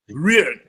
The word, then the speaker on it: Rieu: And if you, I'm trying to pronounce, how do you say his last name? Andre Rieu. Rieu.